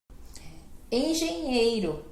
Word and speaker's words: engenheiro: Não tinha parado para pensar, mas realmente que é engenheiro, porque, né, temos o G, depois o nhê e o ro, né, que daí tem esse R.